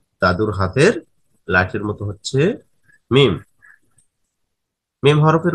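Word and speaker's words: ميم: দাদুর হাতের লাঠির মতো হচ্ছে মিম। মিম হরফের উচ্চারণের স্থান কি? দুই ঠোঁট একত্রে মিলিয়ে উচ্চারণ করতে হবে মিম মিম।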